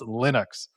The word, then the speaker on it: Linux: Um and that is no one agreed on how to pronounce Linux for the longest time and then Linus Revolstead is like I wrote the thing I put the code I get to say how it's pronounced. So it's like you can mispronounce my name all day long but it's pronounced Linux and so that's it.